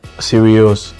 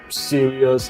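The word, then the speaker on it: Sirius: of the star the dog star is called seral so that's why I so how do you spell that s i r i u s seral yes yes s i I thought it was like serious okay like so serious no no no no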